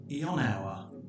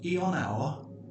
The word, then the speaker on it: Ionawr: Ionawr can be broken down into 3 syllables.